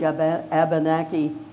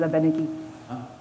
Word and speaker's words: Abenaki: So in our language, Abenaki is closer to the way we would have pronounced it in the old way, just because it doesn't have as strong a syllable as the European languages have.